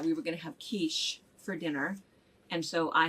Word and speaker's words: quiche: recipe card and said oh we're having a quickie for dinner phonetically correct that's heaven that would not be right no dad was within your shot and came out what no the kid's going somewhere it's pronounced quiche which is though so anyway uh and then